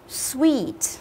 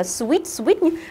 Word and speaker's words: sweet: này không đi à a sweet sweet nhớ đừng đọc là Switch đừng có lên giọng mà chúng ta hãy xuống dần giọng của chúng ta với cái ngữ điệu của từ này Kể cả có một